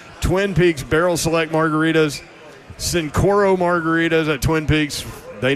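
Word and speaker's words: Cincoro: Is that how you pronounce it? Yep, Sincoro.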